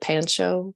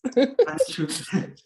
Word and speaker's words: Panchu: Is it Pancho? Pancho? Tell me how to pronounce it, please. Panchu.